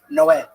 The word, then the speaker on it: Noé: the Spanish translation, it's Noe is Noah, but it's pronounced Noé.